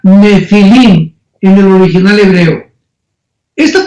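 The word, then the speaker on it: nephil: n de Nancy y pH intermedia nepil se pronuncia nefil en el original hebreo esta palabra en su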